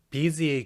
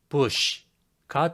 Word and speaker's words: busy: 하지만 busy의 경우 B를 비읍, U를 우, S를 시옷, Y를 이라고 보게 되면 bush가 되어버립니다. 이 단어를 처음 보는 사람은 잘못된 추측으로 bush라고 읽을 확률이 높습니다.